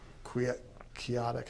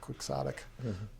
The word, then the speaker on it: quixotic: so I I kind of viewed it as qu chaotic how do you say that quixotic um and uh and then my grandma flew